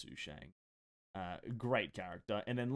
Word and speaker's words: Sushang: sushiang did Wheel oh we all know it's who Shang uh Great Character and